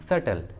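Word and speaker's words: subtle: अगला एग्जांपल देखिए सटल, सटल, ये भी रूट वर्ड है और इसमें टी आया है और टी के जस्ट पहले बी है तो बी को प्रोनाउंस नहीं करेंगे, तो प्रोनाउंसिएशन होगा सटल, सटल।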